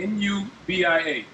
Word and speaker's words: Nubia: again nubia hear it how do you spell newbie how you spell that uh n-u-v-i-a n-u-b-i-a nubia like the nubian queen hey make sure